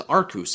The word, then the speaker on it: Arceus: be focusing on Yamato for the uninitiated we pronounced yveltal as novel tall and Arceus as our couse here on this channel if you don't know